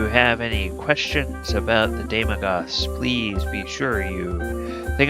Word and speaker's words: Daemogoth: We're going to be looking at the Daemogoths. I always pronounce that incorrectly.